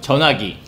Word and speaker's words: 전화기: Why don't you give us the native speaker pronunciation? 전화기.